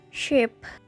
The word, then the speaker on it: ship: sheep in the field these words can if you're not careful sound very similar four is the ship where are the Sheep ship is got a short eye we have to have